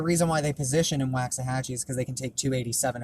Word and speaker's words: Waxahachie: because I don't know of anywhere actually called wax hatching I know Waxahachie unless that's not how it's